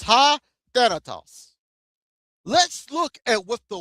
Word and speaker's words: Thanatos: It's spelled like T-O-V, but it says ha. The word ha right there, the T-O-V, it says ha and then Thanos, right? Or Thanatos. It's ha Thanatos.